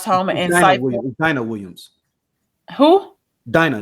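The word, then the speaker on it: Dyana: uh observance of co-founders Diana Williams uh Kenneth Gamble and Ed Wright. And each year it drives home. And Dina Williams. Who? Dina. It's pronounced Dina.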